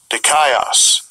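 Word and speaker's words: δίκαιος: Here's their word, righteous, the pronunciation in the Strong's G. Strong's G, 1342. Dikaios.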